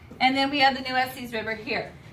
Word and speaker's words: Nueces: Nueces River, is that what you're going to say? Yeah. And how do you say Nueces? Do you say Nueces or Nueces?